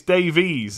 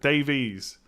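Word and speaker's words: Davies: about the correct way it's it's Davey's isn't it Davey's whereas if I if I didn't think about that I probably would have said Ben Davis I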